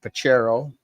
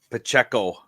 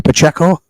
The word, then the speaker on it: Pacheco: I'm gonna take Pachero for my second running back. Now, if you say their name wrong, do you get them? Sure. Pacheco. Bernie Pacheco. It's not Ranchero.